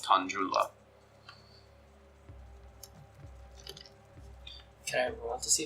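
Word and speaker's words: Tan'jula: Is that spelled with a J or a G? Tanjula with a J.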